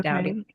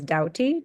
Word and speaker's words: Doughty: Dowy. Okay. And spell that out for everyone. Yeah. Well, is the ch. So. And my last name is Douty.